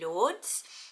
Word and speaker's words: Lourdes: know where you're from and how you would pronounce it so it could be lords um which i also like but i love